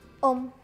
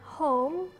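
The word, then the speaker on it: homme: pasti nemuin di toko jadi bacanya bukan home atau home tapi muda itu om karena dalam bahasa Prancis itu hanya enggak dibaca selanjutnya ada bale ini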